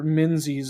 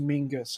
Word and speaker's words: Minzy's: of those things where minzy's is pronounced is actually pronounced mingus everyone that feels like one